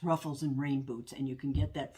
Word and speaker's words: Ruffles and Rainboots: again and I think I was mispronouncing uh the name of Sarah's uh YouTube channel is Ruffles and rain boots not rainbows I've got rainbows always